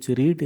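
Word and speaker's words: read: एकवचन पढ़वा इंग्लिश हो रीड रीड र पास्ट पार्टिसिपल हो रेड रीड रेड रेड रेड र स्पेलिंग समान किंतु प्रोनाउंसिएशन उच्चारण हमें रेड करबा हेल्पिंग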